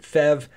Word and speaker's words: PHEV: because Engineers love acronyms it's a peev some will pronounce it fev if you plug it